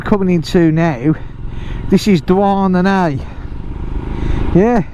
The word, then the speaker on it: Douarnenez: So this place that we're coming into now, this is Douarnenez. Yeah, Douarnenez. It's spelt nothing like it's pronounced.